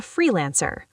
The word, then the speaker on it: freelancer: I am working as a freelancer. Deep dive. Freelancer, stress the free.